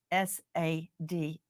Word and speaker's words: Sade: Go to Justice for Sade, and that is spelled SADE, like you would say Sade, like sage. It's pronounced Sade.